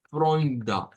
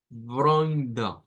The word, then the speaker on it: Freunde: Ese nombre común, nótese que lo vamos a pronunciar como con una R gutural, con una OI y luego con un schwa al final.